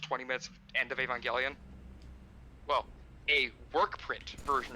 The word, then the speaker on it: Evangelion: And also, I think you're supposed to pronounce it because it's evangelical. So Evangelion.